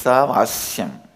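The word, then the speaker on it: ईशावास्यम्: Listen, my pronunciation Ishavashyam is also Padabeta. How I heard from my masters, I am repeating, but actually it is Isavasyam. Isha is not Vasya. My masters, they use the same Sha to Vasya also. I am retaining the Padabeta as it is, as a respect and reverence to my master's way of pronouncing it.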